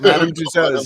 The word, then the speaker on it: Madame Tussauds: Madame Tussauds.